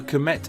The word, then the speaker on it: Kmt: So Kmet in hieroglyphs is this with this part being a glyph of crocodile scales, meaning black and being pronounced phonetically as the km sound in English.